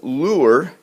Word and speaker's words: lure: Here we have lure, and again this one rhymes with sure, and let's see if it fits the pattern over here.